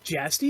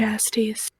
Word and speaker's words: Jastes: Jastes. Yeah, Okay. his friend who brought the Koloss that he... I think you're the only person I've Beheaded. ever heard pronounce the J like a Y.